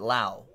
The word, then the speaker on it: Lowe: He pronounces it Lau. Another Rays prospect, Nate, spells it the same way. Nate Lowe.